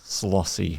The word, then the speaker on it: Szollosy: So, and in Hungarian, SZ is pronounced as an S. Yeah. S's are pronounced as SH.